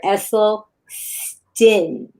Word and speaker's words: Esselstyn: Esleston and everybody remember it's Dr. Essel Stin.